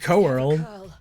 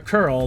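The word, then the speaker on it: Coeurl: loose oh who oh big corl a curl that's it yeah that's how you pronounce it mhm oh just look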